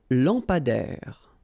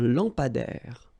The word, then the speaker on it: lampadaire: Un lampadaire. Final not pronounced. Un lampadaire.